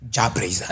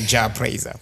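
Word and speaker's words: Jah Prayzah: Jabraiser. Okay, there you go. Exactly, Jabraiser.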